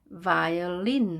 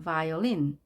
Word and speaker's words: violin: violin 하고 뒤에 강세가 있습니다. violin. 바이올린이 아니라 violin. violin.